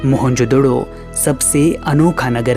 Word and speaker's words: मोहनजोदड़ो: हुआ है है मोहनजोदड़ों शब्द का सही उच्चारण है मोहनजोदड़ों और सिंधी भाषा में इसका